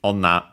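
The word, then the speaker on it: 女: Yeah, the other example is onna tachi with onna, which means woman. But that one is accented on the last syllable on its own.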